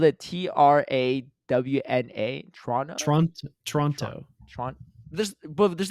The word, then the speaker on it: Toronto: Toronto it's not Toronto you actually want to pronounce it as few of the letters as possible more like Toronto like what wait okay okay Ace Trader Paul's spelled it t-r-a-w-n-a Toronto Toronto this well there's